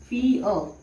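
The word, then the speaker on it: fear: और ये आर यहाँ पे साइलेंट रहेगा तो हम इसको ब्रैकेट में लिख सकते हैं फी अ।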